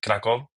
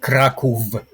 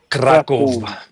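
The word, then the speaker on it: Kraków: Uh mostly Germany uh but also Austria and Poland in Kraco. Did I pronounce that correctly? Yeah, if you want to pronounce it correctly, it's Kraov. Kraov.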